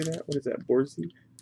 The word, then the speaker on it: Borzoi: Borzi? Borzoi.